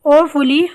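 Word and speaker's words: awfully: आई एम ओफुली hungry, I एम ओफुली hungry, मुझे सख्त भूख लगी है। ये आ के सेंस में नहीं होगा, ओ प्रोनाउंस होगा।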